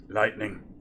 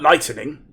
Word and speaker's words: lightning: um that's lightning there lightning not lightening lightning two syllables not not three lightning right so um